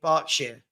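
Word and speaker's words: Berkshire: Highline does that scare anybody else um it's pronounced barking mad because I live in Reading bark Shar okay got it all right barking okay um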